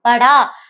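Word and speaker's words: पढ़ा: படா. நான் சொன்ன மாதிரி ஒண்ணு ஆ சவுண்ட்ல எண்ட் ஆகணும், இல்லைன்னு யா சவுண்ட்ல எண்ட் ஆகணும். சோ படா.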